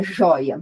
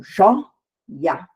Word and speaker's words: joia: Então, joia. Então, o o é a sílaba tônica, digamos assim, junto com o i, que forma o ditongo, e o azinho ali do lado, que é uma vogal separada.